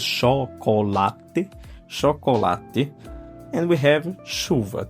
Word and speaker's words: chocolate: We have chocolate, same, chocolate, but the open sound is chocolate, chocolate.